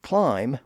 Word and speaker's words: climb: So for example, he rhymed the word climb with the words time and crime.